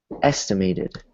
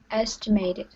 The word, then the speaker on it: estimated: Estimated. Estimated. Estimated. Estimated. Good. Good. And good job, everybody, because that word also has a T between two vowels. And I didn't hear any hard T's, which is good.